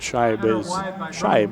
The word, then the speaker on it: Scheib: And by the way, we did verify at halftime Scheib is the correct pronunciation.